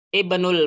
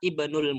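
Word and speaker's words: ابن: perempuan tidak di tanwinkan Ibnul mudarrisi bilqosli Aina banul mudzir bacanya bukan Aina Ibnu Aina Ibnul mudir bukan langsung hamzahnya tidak dibaca ini posisinya di tengah-tengah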